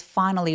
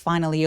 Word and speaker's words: finally: 되고 I'm glad it's finally over. 요렇게 끊으셔도 좋습니다. 끊어읽기는 절이나 구가 있을 때 끊어읽어 주시면 되거든요. I'm glad it's finally over. Finally 아니고 finally. finally 강세 주고 나머지 음절은 들리긴 들리는데 너무 세게 주지는 마세요.